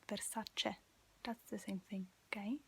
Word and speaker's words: Versace: and it's important um the letter e is pronounced e in italian and think about it um american always say versace but it's versace that's the same thing okay it's very such